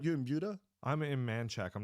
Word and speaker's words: Manchaca: No, but it's weird though, because down there you got to say Manchac, because that's just how they pronounce it. That's how Texans pronounce it. Right. And I'm Hispanic, so I'm like Manchaca just makes sense. I always say Manchaca. Yeah, Manchaca, right? But it's not. It's Manchac.